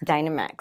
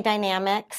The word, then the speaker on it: Dynamex: Dynamex. Okay. Some people say Dynamics. It depends on which attorney you're talking to. Okay. How they're going to pronounce it.